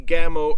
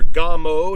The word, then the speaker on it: Gamo: said this is the gamo urban or gomo depending on your pronunciation it is a pcp